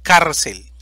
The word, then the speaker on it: cárcel: la tilde ahora tenemos cárcel división silábica cel sílaba tónica car termina en una consonante